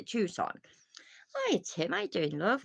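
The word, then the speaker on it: Tucson: say it is it obviously it's not tuxon which I knew it wasn't by the way but it's a tuon hi Tim I doing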